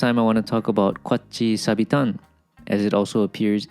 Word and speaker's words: Kwatchii: And the point here is that there's kind of a break in the middle of the word. There's almost a pause. Kwatchii, Kwatchii sabira, Kwatchii sabitan.